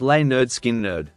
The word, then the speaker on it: Lynyrd Skynyrd: and produced their debut album pronounced L nerd skin nerd featuring iconic tracks like